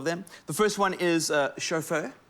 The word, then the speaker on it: Chauffeur: The first one is Chauffeur. Spelled like chauffe with her at the end, which I think is quite a cute name.